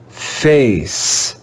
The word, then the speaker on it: face: it's the silent e in this word we have a silent e let's read the word together face face face you can